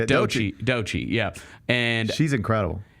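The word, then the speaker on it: Doechii: how to say this DOI I think that's how you say it that's is how you say it DOI DOI yeah and she's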